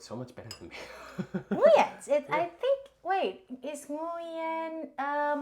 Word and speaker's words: Nguyen: Nguyens.